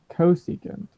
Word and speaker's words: cosecant: CSC, that's cosecant, right? Yeah. That is. Go ahead. I wasn't saying anything. Oh, okay. So this cosecant is the opposite of sine.